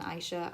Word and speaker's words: Isha: I've heard people pronounce it Isha and Aisha. I'm gonna go with Isha just because that's easiest right now, but you guys get the idea.